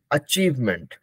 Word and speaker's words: achievement: ठीक है, तो हम लोग सबको ही, हम लोग ऐसे बड़े हुए ना, हम लोग अचीवमेंट ही बोलते हैं, लेकिन अचीवमेंट नहीं है. Correct pronunciation is अचीवमेंट, अचीवमेंट. तो चलिए सबको प्रोनाउंसिएशन करते हैं भाई, सबको इसका उच्चारण लगाते हैं.